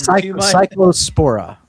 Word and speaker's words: Cyclospora: Taco Bell, this cla sapora, I can't even pronounce that. And cycllospora cycllospora.